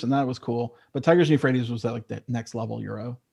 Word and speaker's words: Tigris and Euphrates: Did I pronounce that right? Yeah, Tigris and Euphrates.